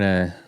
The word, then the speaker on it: Tough: is my real name it's pronounce to in Scotland but yeah my name